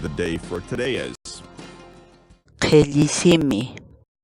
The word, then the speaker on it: Qhilli: series videos where we teach you how to pronounce certain words in Quechua. So our word of the day for today is Qhilli. Qhilli. Qhilli.